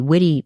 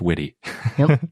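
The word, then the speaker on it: Witte: we've been pronouncing the witty museum incorrectly it's pronounced witty not wit so we will keep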